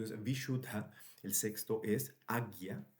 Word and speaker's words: Ajna: vishuddha, el sexto es agya, a j n a se pronuncia agya, el séptimo es sahasrara y el octavo es el bindu.